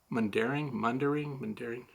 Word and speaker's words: Mundaring: Did I pronounce that right? Mundaring.